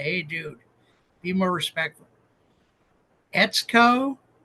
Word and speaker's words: Etsuko: times so far but she says it rhymes with let's go so if I mess it up you guys can call me and say hey dude be more respectful etco marito is it it's